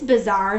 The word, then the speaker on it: bazaar: first word is bizarre this word bizarre sounds like another word bizarre the word that you might know is like weird or strange but this bizarre spelled with a double